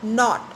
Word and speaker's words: naught: But his power counted for naught. A word is given here, naught. Pronunciation is same, but the spellings are N-A-U-G-H-T. That's an old English word and having the same meaning, N-O-T, naught.